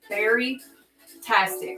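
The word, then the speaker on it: Baritastic: and that's okay so very tastic is what it's called it's like berryatric but ber tastic so b a r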